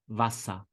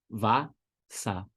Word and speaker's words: Wasser: E, R em alemão soa como A. Simples desse jeito. É por isso que você fala Wasser. Wasser. Olha o final, som de A.